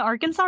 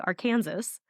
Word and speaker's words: Arkansas: the AR Aransas so saying Arkansas like you would how you pronounce Kansas Aransas oh okay in Kansas it's called the AR Kansas on both sides of